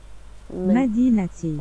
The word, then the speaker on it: مدينتي: مدينتي Madinati.